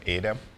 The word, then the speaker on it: Edem: Yes, Eddie basically came from Edem, which is my name. Edem, that is in French, and Americans cannot pronounce Edem. They pronounce it Edem. It is not Edem. It's Edem. Edem.